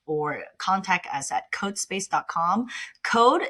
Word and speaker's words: Qode: Code is just like coding, cood, but it's spelled with a Q to start with because I want to emphasize a Q because quality comes first for our uh company.